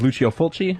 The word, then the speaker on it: Lucio Fulci: know that I believe the pronunciation of his name is Lucio Fulci, if I'm not mistaken.